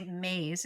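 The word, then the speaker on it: Myss: There's a really amazing author called Carolyn I think you say maze. It's spelled MSS.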